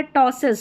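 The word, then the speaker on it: ptosis: पीटी में यहां पर है टॉसिस। स्टोसिस पी साइलेंट है।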